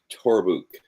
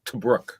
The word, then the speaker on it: Tobruk: So this is actually Interior Fort Torbuk. Torbuk. Perfect. How do you pronounce that? No idea. It's in the Sudan. Yeah, I was about to say, I believe that's Tobruk.